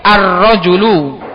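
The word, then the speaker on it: الرجل: Karena itu dia alifnya itu diucapkan ketika memulai tapi tidak diucapkan ketika disam disambung. Contohnya hadzar rajulu di situ alifnya enggak a enggak ada ditulis tapi enggak terucap.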